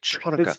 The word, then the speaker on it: Hanukkah: Chanukah. Get some phlegm in the back of your throat when you say it.